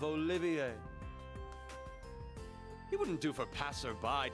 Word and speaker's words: Olivier: Also, I'll have you take care to say my name properly. I am the drifting poet and seeker of love, Olivier.